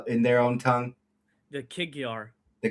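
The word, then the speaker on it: Kig-Yar: So how do you pronounce these guys' names in their own tongue? The Kigyar. The Kigyar.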